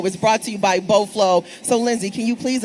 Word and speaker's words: Beau Fleuve: So, you're probably wondering what is Boflow, right?